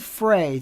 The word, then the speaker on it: Frey: a Glenn Frey fan my last name is pronounced like hey Trey Gray Ford Frey thank you and I